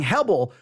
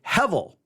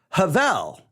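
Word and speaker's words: הבל: Now, the word, actually, we should not, the letter B there should actually be given a V sound. So instead of saying Hebel, we should say Hevel. Hebel, but it's stated as if the B is a V. So it's Hevel.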